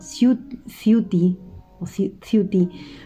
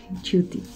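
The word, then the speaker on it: Ciutti: cierto en otra ocasión lo he mencionado como si futty porque claro no recordaba yo que que se pronunciaba así chuty él como digo el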